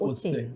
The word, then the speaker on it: Otse: How do you pronounce Vincent? Otse.